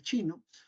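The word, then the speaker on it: Qin: la dinastía chin o la dinastía King se pronuncia chin en realidad chin Juan es el tipo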